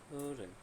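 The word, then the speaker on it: hören: ওকে ওকে, তো তারপর হরেন, হরেন অর্থ হচ্ছে শোনা। ওর ও ওমলাউটের উচ্চারণ হবে ও, একটু ভিতর থেকে, হ্যাঁ, ও তাহলে কীভাবে উচ্চারণ হবে? হরেন।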